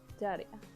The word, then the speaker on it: Jadia: It's like, it's close enough to Dahlia, but with like a sort of diss sound at the beginning. Jadia. It's got a fancy drawl. It sounds like you're trying to say Dahlia with a really strong accent.